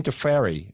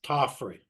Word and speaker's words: Tofferi: know Hall of Famers Wayne Wong and Deery um I hope I pronounce that right I keep messing it up in my head first off how do you pronounce your last name it's tofy tofy there we go thank you very much